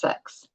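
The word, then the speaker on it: seax: It's a Viking knife pronounced Sax.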